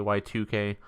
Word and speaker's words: YIIK: it's spelled YIIK, Y2K.